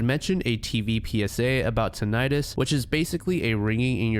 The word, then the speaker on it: tinnitus: The word you're going to hear me pronounce is tinnitus, but it's actually pronounced tinnitus, so please don't crucify me in the comments.